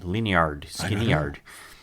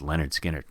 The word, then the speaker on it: Lynyrd Skynyrd: how about Lynyrd Skynyrd lean yard skinny yard yeah never we get in arguments how to properly pronounce that Lin you're the cousin of mine finally is a dummy it's just Leonard Skinner okay that's all it